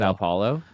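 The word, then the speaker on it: São Paulo: How do you pronounce that? Brazil. Sa Paulo.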